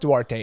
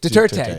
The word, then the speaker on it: Duterte: so did oh dude it's not duarte it's deterred how do you pronounce the name duterte duterte duterte yeah there we go i always thought it